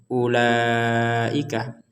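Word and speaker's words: أُولَٰئِكَ: dibaca labahanna ulaika jadi perhatikan di sini ada wau kemudian ada tanda lingkaran di atasnya tanda lingkar dan ini bukan tanda sukun sehingga Jangan dibaca ulaika Jadi dibacanya ulaika kita lanjut Min Nabil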